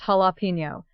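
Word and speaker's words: jalapeño: Answer, it is pronounced jalapeno. The J is completely silent.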